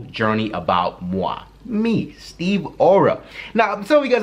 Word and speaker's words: Aura: Now, A-U-R-A is aura, like your aura, but at the same time, it's aura. Aura, like hurrah. That's how it's pronounced specifically.